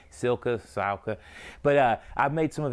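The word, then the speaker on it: Cylka: It's run by a guy by the name of Steve Silka, I believe is how you pronounce his last name, C-Y-L-K-A, Silka.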